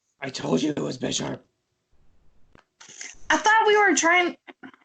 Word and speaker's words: Bisharp: It's pronounced Bisharp.